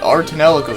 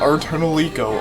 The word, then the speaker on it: Ar tonelico: happens to be the art in El Arco series yes not our eternal eco art Anela code before I knew how to actually pronounce it that's what I used to think it was and we're gonna take a